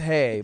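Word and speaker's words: Hej: And after like 15 minutes or so, they wander over to our table to say hi, Hedge. and they just say, "Hedge." That's H-E-J. It's Swedish. pronounced hey, They but say, come Yeah, over and they say, don't say they don't hedge.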